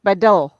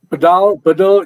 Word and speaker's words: Badal: It's Badal. Badal, either which way, Badal. There are variations in the pronunciation, so I'm not fussed up about it.